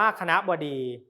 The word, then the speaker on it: คณบดี: สระ อ่อน และ สะอาด คณบดี อ่าน ว่า คณบดี ไม่ เขียน รูป สะอาด และ สระ ออ จบ จาก ภาษา บาลี